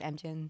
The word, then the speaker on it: Amgen: and then you were at I hope I pronounce it right. Amgen? Yeah, it's Amgen.